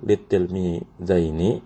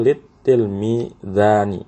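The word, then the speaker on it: لِلتِّلْمِيذَيْنِ: Makanya kalau kita mau bikin kalimat kul litilmidaini ya, kita bacanya seperti ini, tidak kul litilmidani ya, karena kalau litilmidani salah.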